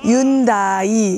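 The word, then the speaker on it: Hyundai: 이태리는 현대 그러면은 H가 발음 안 나니까 윤다이 이렇게 읽는다든지 삼성 뭐 이런 것도 되게 쉬워요.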